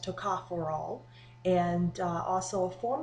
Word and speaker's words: tocopherol: discuss it's um I always said it um mispronounced it Toco feral and it's actually pronounced TOA forol and uh also a form of that is